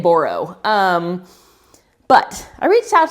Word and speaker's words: Boroux: to burrow b o it's spelled BAU you say say it borro um but I reached